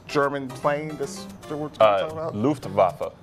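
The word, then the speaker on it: Luftwaffe: I don't know how to pronounce this. L Ven. Oh, it's Luft. Vafa.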